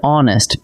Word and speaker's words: honest: The word honest begins with a silent H, so it actually opens with the vowel sound a.